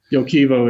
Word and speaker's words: Yoquivo: It's a great district, it's a district scale project that we control, Yoquivo is how it's pronounced in Spanish, but close enough.